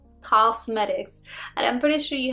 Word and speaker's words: Causemetics: I think that's how you say it, because it's not cosmetics, it's like Causemetics, and I'm pretty sure you have seen them.